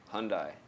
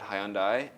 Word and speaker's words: Hyundai: I mean shout out Hundai I pronounce it wrong in my video as I'm now we're going to speak about those videos too um hearing from a lot of people I said hyai what did I say